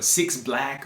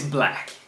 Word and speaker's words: 6lack: and people you know try to pronounce it it's black or six black or black or that's crazy but yeah it's black so point clear ricardo valdez